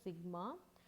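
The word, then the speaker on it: σ: இதை நீ எப்படி ப்ரொனவுன்ஸ் பண்ணணும் அப்படின்னா சிக்மா.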